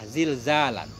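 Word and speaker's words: زلزال: Cara membacanya bi fathi zai wa kasriha, dengan fathah zai dan dengan kasrahnya zal. Maknanya zalzalatan pertama zalnya fathah, zalzalan kedua kasrah, zilzalan.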